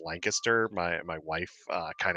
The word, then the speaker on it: Lancaster: in Lancaster Pennsylvania I used to call it land Caster but it's actually pronounced Lancaster my my wife uh kind of corrected me